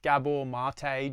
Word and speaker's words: Gabor Maté: Gabor Maté, probably the leading expert in the world on the subject. He's done podcasts with Joe Rogan, Tim Ferriss, pretty much any Dr. Gabor Maté, Gabor, Maté, spelt mate.